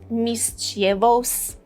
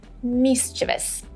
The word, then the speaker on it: mischievous: So, do not say mischievous. Do not say mischievous. No, it is mischievous.